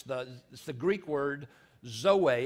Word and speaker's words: zoe: It's the Greek word zoe. It's Z-O-E. And people pronounce it different ways. I was taught that zoe, if you're from southern Alamance, you may call it zoe, but it's actually closer to zoe.